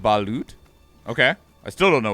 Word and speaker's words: balut: It's pronounced balut.